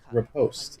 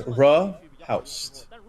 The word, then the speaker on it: riposte: Okay, so you have to say like you have to say rice. So the first syllable is ri, like ri.